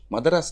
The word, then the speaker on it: மதராஸ்: அதை நீங்க மதராஸ்னே ப்ரொனவுன்ஸ் பண்ணுங்க. ஏன்னா டைட்டில் நான் மட்டும் தான் வச்சிருக்கேன். மதராஸ், மெட்ராஸ் வேண்டாம், தமிழ்ல போலாம் அப்படின்னு சொல்றீங்க.